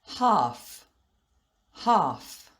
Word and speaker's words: half: But sometimes the letter L is silent, like in these words. Half, half. Palm, palm.